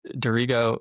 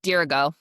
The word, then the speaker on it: Dirigo: And for Dorigo, or how do you say it? Dirigo? Yeah, Dirigo.